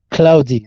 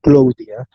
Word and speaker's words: cloudy: Yes, remember to pronounce is cloud, cloudy, not Claudia.